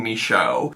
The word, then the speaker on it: Michaud: found, which is Darlene Misho. Her name doesn't look like it's pronounced that way.